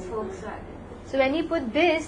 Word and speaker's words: Volkswagen: is all different internationally if you go to German the way they pronounce uh V is f that's you know Volkswagen is not volag volag Volkswagen so when you put